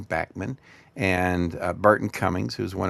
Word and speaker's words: Bachman: was first around with Randy Bachman uh who pronounces his name Bachman and Burton Cummings who's one of my favorite heroes.